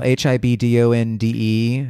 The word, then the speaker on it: Hibdonde: don't know how to say this Instagram handle, HIBDONDE.